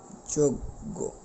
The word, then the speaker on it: যজ্ঞ: ওকার লাভ করেছে অনুরূপভাবে যজ্ঞ এটার উচ্চারণের ক্ষেত্রে আমাদের বলতে হবে যজ্ঞ উচ্চারণ করতে হবে কি উচ্চারণ করতে হবে যোগ্য আশা করি ব্যাপারগুলো আমরা